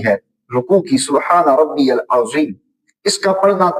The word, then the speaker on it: العظیم: ادا کر رہا ہو، کیونکہ سبحان ربی العظیم کے اندر جو ضا آئی ہے اس کی آواز ذال اور زا سے ملتی جلتی ہے، اور اگر کوئی ان